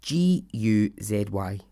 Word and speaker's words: Guzy: Gozy? I don't know how you say her name. Carol Guzy? Gozy? It's Guzy.